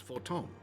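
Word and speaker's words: Fortemps: that of House Forton. You've won us much honor, my friend. The S is also silent.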